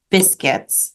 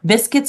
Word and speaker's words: biscuit: world, people call cookies biscuits, like in England, for example, and other places in the world. Biscuits are actually cookies. In French, it's pronounced biscuit.